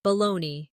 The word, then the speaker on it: Bologna: For example, Colonel is spelled Colonel, but sounds like Colonel, or Bologna, which is spelled Bologna, but pronounced Bologna.